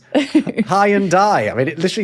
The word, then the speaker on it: Hyundai: Hyundai. Yeah, rhymes with Sunday. Like Sunday. Yeah.